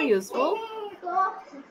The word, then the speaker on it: useful: Bacanya useful kan, jadi ada huruf Y-nya, bacanya kita tadi useful, bukan useful. Kalau kita bacanya useful, kita bacanya an kan, cuma ini bacanya useful, ada Y-nya, jadi pakai A.